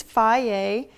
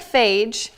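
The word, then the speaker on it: Fage: So this is Faye. It looks like phage, F-A-G-E, but it's Faye, I promise.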